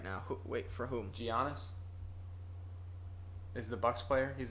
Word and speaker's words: Giannis: for crushing it right now wait for whom giannis is the Bucks player he's their best player I cannot pronounce his name I'm sorry yeah giannis oh